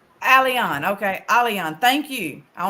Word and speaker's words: Alyan: thank you so much by the way it's Alan alion okay alion thank you I want to make sure I pronounce it correctly yes now it's perfect uh